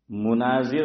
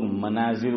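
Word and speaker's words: مُناظر: علیہ سے سنا کہ لوگ اس کا تلفظ غلط کرتے ہیں. لوگ مناظر بولتے ہیں، ماں پر میم پر کیا بولتے ہیں؟ پڑھتے ہیں فتحہ زبر. فرمایا کہ صحیح تلفظ مناظر ہے، میم پر کیا ہے؟ ضمہ ہے، پیش ہے.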